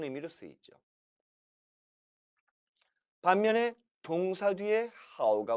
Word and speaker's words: 好: 그런데 이 단어가 하오, 하오 사성어로 발음될 땐 동사가 돼서 좋아하다라는 뜻이 됐습니다. 반면에 형용사 앞에 하오가 오면 이때는 형용사를 수식해주는 부사가 되는 거죠.